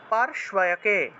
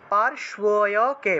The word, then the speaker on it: पार्श्वयके: তারপরে দেখুন নেত্রয়োঃ, নেত্রয়োঃ চিত্রনেত্রা চ, নেত্রয়োঃ চিত্রনেত্রা চ यम घंटातु पार्श्वयके, पार्श्वयके, पार्श्वयके, এইভাবে পার্শ্বয়কে শয় উচ্চারণ হবে, यम यम यम घंटातु पार्श्वयके, यमो